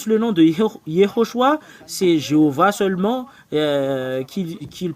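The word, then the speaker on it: יהושע: Josué tout ceux qui prie yhoshua prie Josué ou jhoshua ou Joshua ou Yeshua nous allons voir quelle est la raison pour laquelle c'est faux tout ce que vous avez prononcé nous allons l'effacer c'est sur quelle partie qu'on va effacer nous allons mettre ici Yehoshua parce que c'est c'est vraiment la signification et il y en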